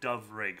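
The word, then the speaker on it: Dyfrig: That's how you say my name is dove rig, but it's spelled uh because one f in Welsh is pronounced as a v sound.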